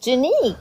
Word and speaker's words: Janique: The correct pronunciation of your name, is it Janique? Yeah, it's just Janique.